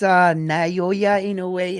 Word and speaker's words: Naoya Inoue: It's pronounced Naoya Inoue. Inoue. Naoya. Naoya Inoue.